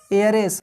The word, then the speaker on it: heiress: उसी तरह ऑनेस्ट या एयरेस, HEIRESS, एयरेस।